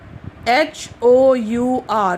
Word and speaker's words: hour: H-O-U-R. We don't say hour. We say R. So H is silent here.